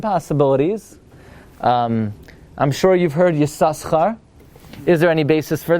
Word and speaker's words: Yissaschar: If it's pronounced Yissaschar, at the very least you need to have a dot on the left side.